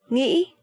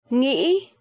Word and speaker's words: nghĩ: If you hear people from the south, the southern accent, they would say nghĩ, a bit softer, right? Nghĩ. But the northern accent, nghĩ, nghĩ.